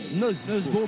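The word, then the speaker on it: Nøddesbo: Nous, dans le handball, on a toujours appelé Jesper Nodesbo à la française. Nodesbo, parce que c'est ici qu'on l'appelle comme ça au Danemark. Et donc, il faut respecter aussi, un tant soit peu, tant qu'on peut, leur prononciation.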